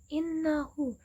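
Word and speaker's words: إِنَّهُ: Innahu. Innahu itu kan ada nun bertasydid ya teman-teman. Jadi dibacanya bukan innahu, tapi innahu kana huban kabira. Innanya itu berdengung, jadi ditahan selama 2 ketukan.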